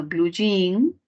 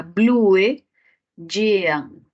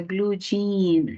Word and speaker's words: blue jean: como suena para nosotros en el inglés suena Blue jin casi como se escribe para nosotros pero la escritura del inglés es diferente porque sería Blue yean Blue yean como se escribe pero se pronuncia Blue Jean entonces la adaptación tiene